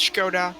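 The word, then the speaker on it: Škoda: uh skoda is from czech republic yeah it's pronounced skoda sorry sorry i should know that i should know that skoda yeah yeah yeah that's it perfect sorry in britain we'll just call it skoda because people don't understand funny hats and things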